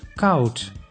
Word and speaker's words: koud: O plus U makes au, like in koud, which means cold.